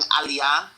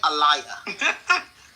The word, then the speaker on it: aliyah: There are certain words everybody knows how to pronounce. So instead of saying aliyah, which is, you know, the naturalization process in Israel, she kept saying, uh, what did she say? Allayia.